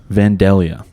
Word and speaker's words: Vandalia: do you pronounce it vandalia vandalia all right so it's like the like black dahlia i guess it just has l l-i-a at the end all right don't come